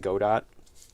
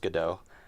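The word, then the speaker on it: Godot: Uh, a lot of people get in debates about it because the developers call it God Dot, but then at the same time they say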